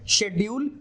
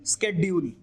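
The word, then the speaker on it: schedule: जैसे शेड्यूल, स्केड्यूल, there are some who से स्केड्यूल and there are some who से शेड्यूल, both are correct.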